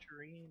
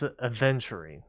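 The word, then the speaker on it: aventurine: Venturine or No, it's adventurine. Yeah. A V E N T U R I N E.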